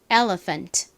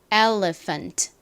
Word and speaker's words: elephant: L 리가 됐고요 리 다음에 프 소리 나는 오늘의 핵심 PH 써 주시고 어 소리는 a입니다가이 단어에서는 힘이 빠진 어 소리로 쓰였죠 자 그다음에 니은 받침 n 마지막 트 소리 나는 T L입니다 발음 해 볼까요 코끼리